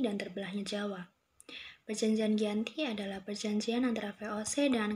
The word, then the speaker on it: Giyanti: 13 Februari tahun 1755 nama Dianti ini diambil dari lokasi penandatanganan perjanjian ini yaitu di desa Janti dalam pelafalan Belanda yaitu yg anti tempat tersebut sekarang dikenal